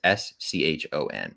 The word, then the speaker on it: Schoen: Eric Sean, I believe I'm pronouncing this, or Schoen. It's Schon. Eric, if I'm getting it wrong, I apologize.